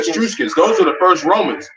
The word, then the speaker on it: Etruscans: from, you know, Japheth, the Etruscans. That's how you say it? Etruscans. Yeah, the Etruscans.